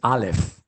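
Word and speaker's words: אלף: Aleph y parecen dos como esta letra no se pronuncia, ¿verdad? Pero se ve como un torito, ¿verdad? Pudiéramos imaginarnos un toro ahí, pero es Aleph, Aleph. Y aunque se conoce y se usa, no se pronuncia, es silenciosa.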